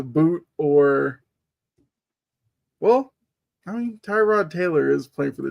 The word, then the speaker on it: Tyrod: Although Baker did kind of tell us that you're supposed to pronounce it Tyrod, not Tyrod.